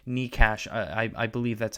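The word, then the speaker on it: Nečas: You look at even like Nikash, I believe that's how you pronounce his name. Natchez, there you go.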